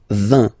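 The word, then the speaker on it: vingt: And the last one, so this G letter is here, but you don't pronounce it, okay? And then final T doesn't exist phonetically either, so basically you will only need to pronounce these 3 letters.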